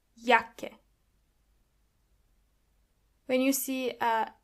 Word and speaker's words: Jacke: And this is where you can see that the letter J is pronounced as Y. Jacke.